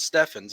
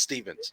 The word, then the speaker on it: Stevens: Well, you know, my last name's Stevens, okay, with a V. And I have a lot of people spell it with a PH. It's like, no, it's not Steffens, it's Stevens.